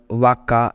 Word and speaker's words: vaca: Cow in English called vaca, in Spanish C is with vowel A, which makes it to pronounced as K, as we discussed earlier.